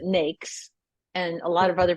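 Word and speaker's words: NAICS: uh yeah so uh people pronounce that a thousand different ways but I pronounce it nakes and a lot of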